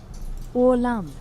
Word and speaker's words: Åland: Åland. Åland. Okay, I've been mispronouncing it.